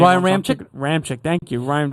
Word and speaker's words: Ramczyk: Ramczyk, thank you. Ryan Ramczyk from Wisconsin.